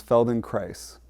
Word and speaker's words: Feldenkrais: So the name some of you know already but in case you don't rhymes with nice. So it's feld in Christ rhymes with nice.